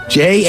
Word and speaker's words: Jash: Rhymes with dash or gash. No. I mean, what his parents only did they miswrite out an O? Jash? Is it Jash? Jash. J-A-S-H. Seriously, it's Jash.